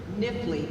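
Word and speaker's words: Knifley: Dr. Stephen Nifley, K is silent.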